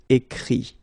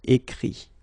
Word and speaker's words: écrit: Okay, écrire, to write, will become écrit. Okay, remember that phonetically this final T doesn't exist. Okay, so the sound will be only this I, écrit.